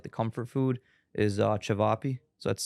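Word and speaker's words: ćevapi: which is like the comfort food is uh chiap so that's c v a pi I it's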